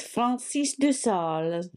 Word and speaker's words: Francis de Sales: So during the Reformation, Francis de Sales, you pronounce it better than I do, was a Catholic who went... It's Francis de Sales.